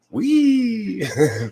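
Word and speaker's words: Wie: is w-e-i pronounced way how is her last name pronounced wee like that you know uh my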